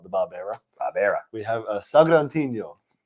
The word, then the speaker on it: Sagrantino: We have a Sagrantino. Sagrantino.